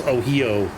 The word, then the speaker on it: Ohio: Yeah, it's like it'd be like if they called us Ohio. No, it's Ohio. It's like, oh, hi.